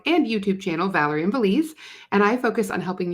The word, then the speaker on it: Valdez: start by saying that's how you say it, Valdez.